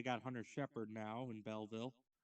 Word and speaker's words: Belleville: Yes, it's Belleville. I pronounce it Belville. Ignore the second E in the name.